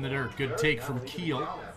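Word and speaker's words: Kiel: He's been Kyle Crumwide, Keel Crumwide, Keel Crumweed, Kyle Crumweed. If he doesn't turn But you got it now. Keel Crumweed, yes.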